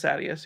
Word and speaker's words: Sadeas: So how do you pronounce Sadeas? I thought it was Sadeas. You say the audiobook says Sadeas, yeah.